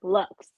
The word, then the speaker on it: Luxxe: not looks looks right looks like luxury but like Lux with two x's because you gotta so